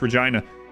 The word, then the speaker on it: Regina: best thing to trade one is Regina is not how you pronounce that it is it's not Regina it's Regina anyway um the uh it's